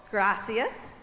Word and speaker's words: Gracias: Gracias. Gracias. Gracias. And you see the R's? You got to kind of roll them. I'm not very good at rolling my R's.